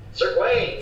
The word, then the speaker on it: Gawain: Sir Gawain, yes. That is the correct way to pronounce it.